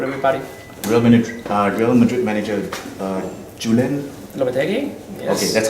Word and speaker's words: Lopetegui: Real Madrid manager Julen Lopetegui?